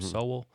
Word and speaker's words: Sowell: you know thomas sowell you say his name sol i think that's how you say it uh he's like a